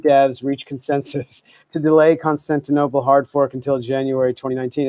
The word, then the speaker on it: Constantinople: sod for a minute first of all it's pronounced Constantinople and secondly begging the question is a fallacy